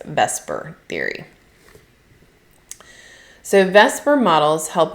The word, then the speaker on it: VSEPR: of those words and because you can't really pronounce veser very easily we call this vesper theory.